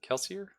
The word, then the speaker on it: Kelsier: Let's pull up my good friend Kelsier here. Is it Kelsier?